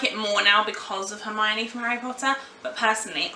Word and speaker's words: Hermione: learn Hermione's name and Hermione actually says it out like my own knee and the reason why